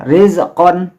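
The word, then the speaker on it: رِزْقًا: Jadi membaca ro-nya tipis ini ya, rizqon.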